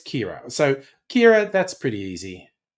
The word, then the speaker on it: Ciara: Now that looks like Kiara, but it's Kira.